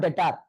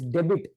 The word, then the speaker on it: Dr: will be a datar this is not datar this is debit this is what this